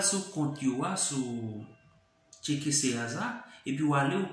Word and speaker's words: Serasa: gain ça qui c'est Serasa qui écrit S-E-R-A-S-A. Dans le pays Brésil nous connaissons prononcer comme Serasa.